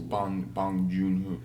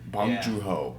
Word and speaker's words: Bong Joon-ho: I think it's Bong Joon-ho. Bong Joon-ho. Yeah, there you go. I'm terrible at pronouncing names.